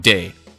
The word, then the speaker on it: de Blob: diblob 2 and yes it's spelled d e so i'm pronouncing it day anyway um you know